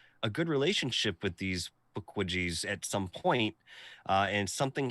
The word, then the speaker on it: Pukwudgies: Pukwudgies, I think is how you're supposed to say it. Pukwudgies. Squeeze me? What is the name? How do you spell it? Pukwudgies. Looks like Pukwudgies, but it's Pukwudgies.